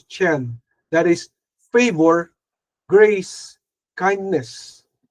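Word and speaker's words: חן: Number one yung favor in the ancient Hebrew language it says chine or chen or ken but the proper pronunciation is chen that is favor grace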